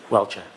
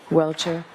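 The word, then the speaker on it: Welcher: to exclude the testimony of Dr Judson Welter welshire how do you pronounce his name Mr Brennan welchire welchire and the Commonwealth's opposition so who's arguing for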